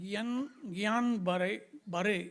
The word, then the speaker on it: Guillain-Barré: Okay, so the N is not silent. Why should the N be silent? N is both important. So it is not silent. Guillain-Barré, it's called Barré syndrome.